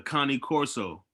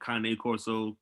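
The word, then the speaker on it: Cane Corso: know but traditionally if you look at the connie corso i'm not sure that there's always something you say kane corso yeah like you know i don't want those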